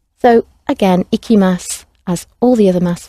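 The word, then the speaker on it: 行きます: about where i go so it rhymes with picky icky icky mass i'm picky about where i go so i go mickey mouse and i will go ikimas so again ikimasu as all the other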